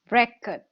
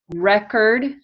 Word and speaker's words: record: lucia repeat after me record record and record record good so record is the noun record is the verb okay so one i